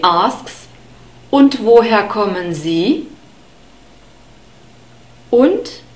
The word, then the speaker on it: und: Und is and und. We have a short U sound in this word, the O sound, und, and the D is spoken like a T again. Und.